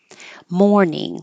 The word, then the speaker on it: mourning: Mourning, whether it's the OURN, which means sadness, or OR, daytime, morning, exactly the same sound.